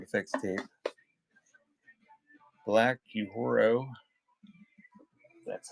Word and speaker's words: Black Uhuru: So Vince Gill, Sounds of Halloween, sound effects tape, Black Uhuru, that's how you pronounce it.